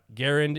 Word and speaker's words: Garand: ahead and use, like Garand and Garand. Yeah. Garand is technically how he said his last name, but, we butchered it enough. But I'm going to try to say it correctly now that we have established that.